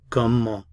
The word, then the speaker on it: comment: The word how is comment, comment. How? Comment. How? Comment. I'm not pronouncing the T at the end of the word.